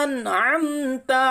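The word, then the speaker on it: أنعمت: এখানে অনেক ভাই ভুল করে আনা আমতা পড়ে, তো এখানে আনা আমতা নেই, এখানে আছে কি হামজা নুন জাবার আন, আন'আমতা। নাকে এখানে আইনও আছে, তারপরে এই আইনকে পরিষ্কার করে বলতে হবে।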